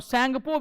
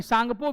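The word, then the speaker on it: Tsangpo: ऐसा कई जगह लिखेंगे टसैंगपो, टी होता है साइलेंट, और सैंगपो भी नहीं, सांगपो भी नहीं, सांगपो।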